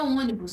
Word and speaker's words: ônibus: Acontece isso também aí com a palavra ônibus, né? Onde nós temos a sílaba tônica aí na antepenúltima posição, logo acentuaremos também. Nesse caso, como ônibus, né? Nós temos aí uma vogal fechada, né?